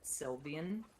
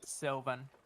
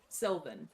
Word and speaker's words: Sylvan: is, it's just in Sylvian or Sylvian. How do you say it? Sylvan. Sylvan. There it is.